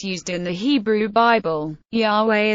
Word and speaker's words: Yahweh: in the Hebrew Bible Yahweh is the pronunciation most widely accepted by hebrew scholars the name may be